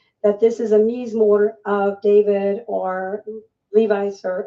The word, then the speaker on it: mizmor: You're using two words there, so spell it out for our audience, mizmor and zamar.